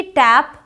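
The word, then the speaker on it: tape: केप A sound okay so टी ए पी टैप बट टी ए पी ई क्या हो जाएगा टेप I hope कि आप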